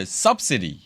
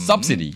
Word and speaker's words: subsidy: 요거를 발음의 액센트를 subsidy. subsidy. subsidy. sub의 앞에 두는 거예요. subsidy.